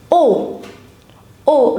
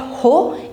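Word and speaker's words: haut: O remember in French you do not pronounce the letter h. So it's not ho it's o feminina o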